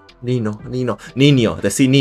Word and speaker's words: niño: con la en la ñe se pronuncia como la n normal pero sin hacerle click por fuera con los labios XD dijo la pero